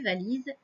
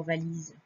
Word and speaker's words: valises: regarde comment ça s'écrit valises vais à elle y est eu donc tu vois qu'il y a la lettre s et on n'entend pas de l'injuste ainsi donc